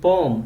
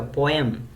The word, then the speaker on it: poem: me share a poem now I'm saying poem and not a poem so we all pronounce this as poem but it's poem you can refer to any dictionary check anyway it's poem so this is a